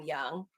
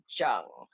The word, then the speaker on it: Young: with the last name young but i will i won't forget that i would have pronounced it jung but it's it's young gotcha uh but yeah